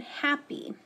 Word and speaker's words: happy: And that Y is long, happy. So it is still an open syllable, but most of the time it makes the long E sound, not the long I sound, like we learned last week, like in try.